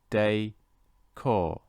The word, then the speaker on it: décor: pronounce this properly so this is nice day core and again nice day